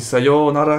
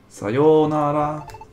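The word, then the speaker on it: さよなら: Ah, on dit Sayonara comme ça? On dit pas Sayonara direct? C'est un O, un Yo, donc. Sayonara.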